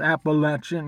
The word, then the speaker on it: Appalachian: It's Appalachian. That's how you pronounce it.